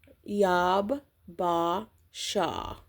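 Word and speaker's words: יבשה: and then you have the English pronunciation of what we would say, and it says Yab Ba Shah from 3001.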